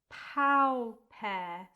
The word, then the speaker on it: pauper: The next word, two syllables, pow pair. So pow is a mixture of R and U. Pow, pow pair.